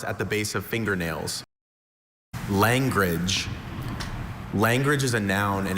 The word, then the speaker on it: langrage: Are there any alternate pronunciations? Just the one. Langrage.